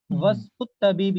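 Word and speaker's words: واسم الطبيب: वस्मुत तबीबी, यहाँ अलिफ प्रोनाउंस नहीं होगा, वस्मुत तबीबी मसऊदुन, और डॉक्टर का नाम मसऊद है, ठीक है।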